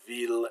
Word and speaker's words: ville: But there's a few exceptions where il is pronounced like I followed by an L, like in the words ville and village, mille, so this is city and village, mille is like a mile, tranquille, oh no, mille is 1,000, is the normal meaning for 1,000, and tranquille is quiet and peaceful. Those are pronounced like the L.